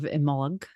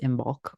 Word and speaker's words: Imbolc: yeah in honor of imol um which is that's more of an Irish pronunciation um you might see it written more i m b o l c so you might hear it pronounced imul or something similar um